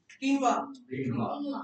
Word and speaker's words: quinoa: Quinoa. The pronunciation is quinoa.